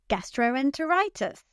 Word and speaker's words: gastroenteritis: That's right. It's the fifth syllable. Now you say it. Gastroenteritis.